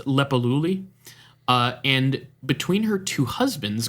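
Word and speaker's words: Leppalúði: I don't know what that character is, but it seems to be pronounced Lepaluli.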